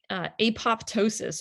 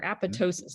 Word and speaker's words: apoptosis: And then it turns out that, there's something called apoptosis or apoptosis, depending on how you pronounce it, but it's programmed cell death.